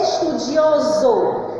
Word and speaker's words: estudioso: Quando a gente pronuncia, ó, estudo, aí eu vou botar estudioso, tem o som de Z, mas é escrita com S, ok?